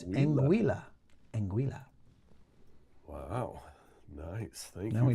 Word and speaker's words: Anguilla: We were wrong. It's Anguilla.